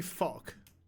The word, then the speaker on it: Valk: like a bird Yeah. in Dutch, With an F or a V. but with a V. Falk. Val. Pronounced the same. Volk. A Volk. Valk.